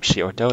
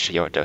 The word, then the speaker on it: Xioto: I'm going to be playing Graeyam Xioto. That's Xioto, spell it with an X.